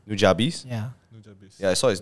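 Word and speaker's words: Nujabes: Nujabis?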